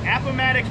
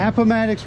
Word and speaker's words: Appomattox: Pronounce the name of this company for me one time. Appomattox River Company. Appomattox River Company.